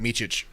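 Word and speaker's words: Mičić: Now, how do you pronounce the dude's last name? Is it Micic? Yeah, you got it, Micic.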